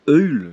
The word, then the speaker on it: Öl: Donc là ici j'ai mis un marquage, ce qui signifie, ce qu'on prononce Öl, ce qui signifie huile en allemand.